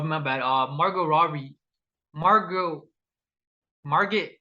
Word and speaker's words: Margot: Margot Robbie, Margot, Margaret, how do you say her name? That's Margot.